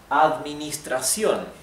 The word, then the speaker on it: administración: The accent goes in the last syllable. Administración. So, here, I guess the challenge is the DM, administra, okay? Try to pronounce DM clearly, administración. And the R, TR, not tración, it's tra, okay? Tración. Tra, not tra, and sion, not sion. Remember, every vowel in Spanish is one sound.